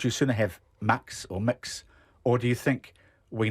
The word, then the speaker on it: Mx: local and they include MX which is pronounced mix or Max which covers everything that actually is MX covers